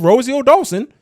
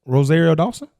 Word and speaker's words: Rosario Dawson: You didn't even say her name, right? Rosario Dawson. Okay. You said Rosie O Dawson like Oh, I did say I did say like an American, huh?